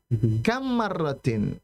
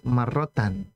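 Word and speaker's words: كم مرةٍ: ke saya kam marrotin ya. Ee di sini setelah kamnya dibaca dengan kasrah kam marrotin karena kamnya ini bukan kam yang untuk bertanya ya. Kalau kam untuk bertanya nanti marrotan.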